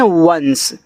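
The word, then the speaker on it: once: यहां पे लिखा आपका ओ एन सी ई। तो इसको पढ़ते हैं वंस। तो ये आपका ओ एन सी ई क्या है? वंश है। ऐसे वंस।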